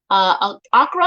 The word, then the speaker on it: Accra: Ibiza, Spain area, Casablanca, Morocco, Accra, I believe it's Accra, Ghana, or Johannesburg, South Africa.